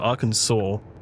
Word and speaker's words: Arkansas: Prime example, Kansas and not our Kansas, but Arkansas. I mean, what's up with that?